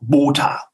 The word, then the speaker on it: Botha: ein Bösewicht hieß Jacob Botha, ganz hart, Jacob Botha. Mhm. Das war für die jungen Zuhörer schon klar, hui, das ist bestimmt kein guter, der Jacob Botha. Mhm. Weil er wird auch hart ausgesprochen.